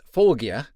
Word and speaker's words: Forge: I still don't know much about Tobias other than the fact that you pronounce his name Tobias Fogia in his native Swedish.